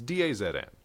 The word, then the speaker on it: DAZN: There's one called, I don't even know how it's pronounced, Dazen? It's Dazn.